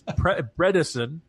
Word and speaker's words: Bredesen: I've probably been mispronouncing him almost my entire life as a president. It's Bredesen. He's a former governor, elected statewide.